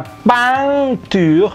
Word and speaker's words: peinture: Nah, ini EIN ini bacanya ang juga ya. La peinture, jadi serupa dengan itu tadi IN.